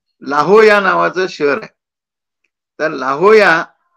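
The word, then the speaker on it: La Jolla: नावाचं शहर आहे तर लाहोया याचा स्पेलिंग लाजोला असा आहे म्हणजे एल ए जे ओ एल ए पण उच्चार काय आहे ओ या असा उच्चार आहे तसंच इथे जिथे स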